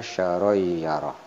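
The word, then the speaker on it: شَرًّا يَرَهُ: Kemudian ada tanwin fathah berhadapan dengan huruf ya sehingga dibacanya syaroi bukan saron tapi syaroi ya, munculnya huruf ya. Nah, ya dibacanya syaroyyarah.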